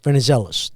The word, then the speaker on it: Venizelos: So today's guest is Venezellis. Did I pronounce that right?